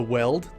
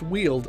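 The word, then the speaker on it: Weald: lot of time in the the weld CU it's not pronounced wield apparently which nobody bothered to tell me throughout my entire first playthrough of this game before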